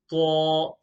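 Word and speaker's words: ط: Say Ta. Now, I'm sure by hearing me pronounce this letter straight away, you probably have recognized that this letter is full mouth.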